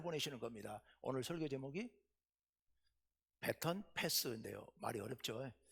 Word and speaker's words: baton: 오늘 설교 제목이 배턴 패스인데요. 말이 어렵죠. 이게 원래 그냥 바통 터치였어요. 바통 터치였는데 그거는 원래 조금 잘못된 표현이고 우리식 표현이고 콩글리시고 찾아보니까 배턴 패스가 맞대요. 바통은 이제 프랑스식 발음이고, 근데 제가 문서로 나가야